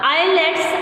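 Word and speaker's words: islets: These are called the आइलेट्स ऑफ लैगरेंस। The word is आइलेट्स ऑफ लैगरेंस, एस इज साइलेंट।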